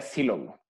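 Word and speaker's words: Sylow: Por cierto, el apellido se pronuncia Silow.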